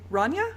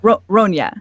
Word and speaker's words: Ronya: Okay, next, just because I'm going in order from the Roll20 screen, and Laura's going to be playing Ranya? Ranja? How does she pronounce it? Ronya. Ronya. Okay, that's something I probably should have known.